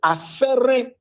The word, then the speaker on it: Asere: Then there was a town called Asere, A-S-E-R-E.